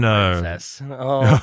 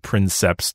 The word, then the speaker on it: princeps: We've all been Princess. Princess. That the mispronunciation of princeps to princess is, in my opinion, quite the highlight.